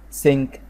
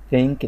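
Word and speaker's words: sink: سينك، سينك بالاس، مش ثينك اللي هي تي اتش معناها يعتقد او يفكر، لكن دي سينك يعني حوض، سينك حوض.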